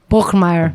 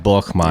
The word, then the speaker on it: Borgmeier: Borgmeier. Borgmeier. Yeah. Borgmeier. If you say it in like kind of a cool, intimidating German way.